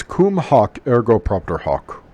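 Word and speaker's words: cum hoc ergo propter hoc: is try it pause the video after I've pronounced it and try it yourself it's actually kind of fun it's Combe hoc ergo propter hoc it's a lot of fun try it this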